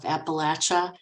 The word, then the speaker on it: Appalachia: been training myself to pronounce it like people from the southern areas of Appalachia prefer so you'll have to